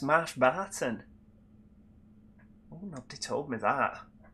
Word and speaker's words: Marsh Barton: Oh, is it pronounced Marsh Barton? Oh, nobody told me that. What have I been calling it? Mosh Borton all these years.